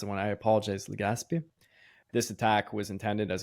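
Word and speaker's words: Legazpi: which is departing from Palo Island disembarks at Legazappi. Uh where is that on? Right here. So south Yeah, Gazpby. I probably mispronounced it when I apologize. Legaspi.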